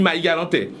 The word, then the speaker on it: Marie-Galantais: D'ailleurs, on ne prononce même pas le R, on transforme le R en H et on dit « je suis Marie-Galantais ».